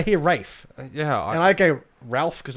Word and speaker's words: Ralph: People say Rafe. Yeah, I hear Rafe. And I go Ralph because it's spelt like Ralph.